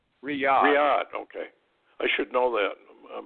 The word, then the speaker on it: Riyadh: Saudi capital of what are they how they pronounce that Rida clearing yonder Riyadh Riyadh ok I should know that my brain is